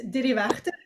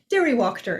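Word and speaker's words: Diriwächter: Last name, correct pronunciation is Dirivachte, but it's Swiss, which is extremely hard for pretty much everybody in America to pronunciate. So I usually just say Diriwachter is easier.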